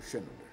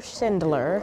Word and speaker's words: Schindler: The life of and times of Oscar Schindler.